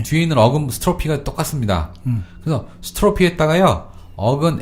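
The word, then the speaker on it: strophe: 그리고 캐타스트로피는요, 아래가 이게 스트로피가 뒤집어지는 거거든요. 아, 철자 불러드려야 되겠네요. 그죠? S-T-R-O-P-H-E. PH가 F 발음 났죠?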